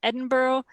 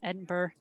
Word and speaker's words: Edinburgh: see we've got Katherine from Edinboro and I said it wrong Edinburgh Karen says many of